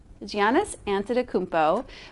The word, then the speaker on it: Giannis Antetokounmpo: So Giannis Antetokounmpo. That's what it is. Antetokounmpo. Giannis Antetokounmpo wins NBA All-Star Game MVP after shooting 16 of 16 from the field.